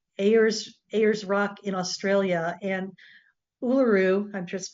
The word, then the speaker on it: Uluru: And Uluru, I've just pronounced it correctly, is a massive sandstone rock formation in central Australia that is sacred to the Aboriginal people.